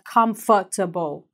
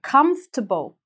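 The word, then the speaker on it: constable: произносить этот средний слой говорят compatible не надо вот этого не надо просто констебль то есть прям сжать нужно все эти согласные в середине и произнести в одно слово дальше сочетание си эйч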